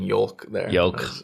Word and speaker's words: yolk: more orange so like how you included the L in yolk yolk yolk it's spelled y-o-l-k so yeah it is